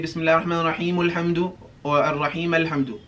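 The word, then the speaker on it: الرَّحِيمِ الْحَمْدُ: That means the alif is silent if we connect what comes before it, right? So when we connect this, it becomes Ar-Rahim Al-Hamdu, alright?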